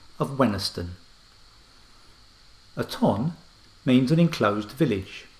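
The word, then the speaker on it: Wenhaston: we looked at the phonetically sounding village of gwen haston which has the pronunciation of wenisten aton means an enclosed village farmstead or manor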